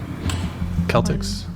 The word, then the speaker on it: Celtics: that's what that's what they're called right it's Celtics Boston Celtics damn that's that's rough what makes